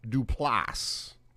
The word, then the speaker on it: Duplass: Mark Duplass, right? And, you put the accent on the ass part at the end of it.